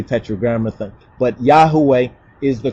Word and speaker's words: Yahweh: yhwh you understand when we say tetr but Yahweh is the correct pronunciation of that the details of Suk the